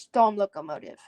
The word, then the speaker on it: Stoomlocomotief: And then Stoomlocomotief. Type. Stoomlocomotief. STOOMLOCOMOTIEF. Steam locomotive. Type. Steam locomotive. Okay, it's pronounced storm locomotive.